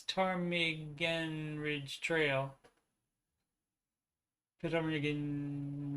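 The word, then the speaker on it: Ptarmigan: read this one uh from silent p i guess tarmigen ridge trail pit over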